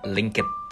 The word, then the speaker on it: lynk.id: Gimana cara pronounce-nya? Linkit, kak. Linkit.